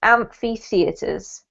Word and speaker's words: amphitheatres: amphitheatres and thick reactors so there's two two sort of separate emphasis points on this word there's amp in amphi and fee in theaters amphitheaters amphitheatres yeah perfect well